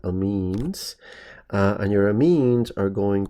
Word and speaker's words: amines: varieties there are things known as amines okay that's how you pronounce that amines and your amines are